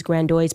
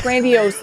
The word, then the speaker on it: grandiose: I am so very disappointed in Cash Patel, Dan Bonino, and Pam Bondi who all made these Grandoise promises to get It's not grand. It's grandiose.